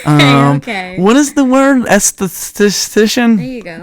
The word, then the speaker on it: esthetician: Esthetician? There you go. How do you say it? Mm-hmm. Esthetician.